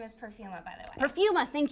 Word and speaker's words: Perfuma: Oh, they say her name is Perfuma, by the way.